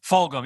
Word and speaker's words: Fulgham: I actually thought that, is it pronounced Fulgham? Fulgham, yeah.